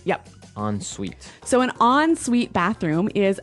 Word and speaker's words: ensuite: en right hyphen s-u-i-t-e so even though it's e-n we pronounce it like an o-n yep ensuite so an ensuite bathroom